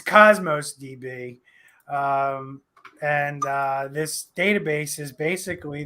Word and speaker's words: Cosmos DB: Chaos or Cosmos DB. Hey, say it right, or someone's going to be. The guy from Syracuse is going to yell at me. It's Cosmos DB, and this database is